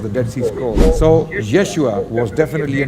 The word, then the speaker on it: Yeshua: the Greek language so we have no idea as to how his name might have been pronounced what we do have is a close attribution Which is yeshua yeshua actually means the saved